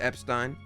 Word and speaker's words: Epstein: It is Epstein. It is Epstein. That is the pronunciation in this game.